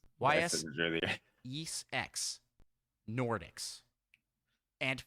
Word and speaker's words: Ys: Is that how you pronounce those? Yes. I said YS. YS Yes X Nordics.